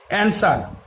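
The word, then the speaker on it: answer: অ্যান্সার, এখানে ডাব্লুর কোনো উচ্চারণ নাই।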